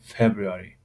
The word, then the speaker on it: February: و در جواب برین میگوید It's in February. It's in February. February. February. February. در اینجا ری به پرگی تلفظ نمی شود، یعنی نمیگیم February. February. February. یعنی یک کم ترک تلفظ می شود.